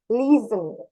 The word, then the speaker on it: listen: Listen. Ada kayak Z gitu. Bukan listening, listening. Listening gitu. Jadi listen itu bukan pronunciation yang benar itu adalah listening gitu.